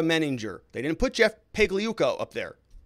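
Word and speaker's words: Pagliuca: they didn't put jeff pagliuco up there paley yuka the g is silent ugh they're going to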